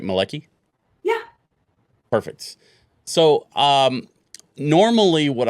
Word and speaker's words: Malecki: And just to clarify up front, I'm pronouncing that correctly, right? Malecki?